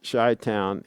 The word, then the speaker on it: Chi-Town: chi-town or shut down let's see pronounce shy town it's shorthand for Chicago Chicago yeah let's see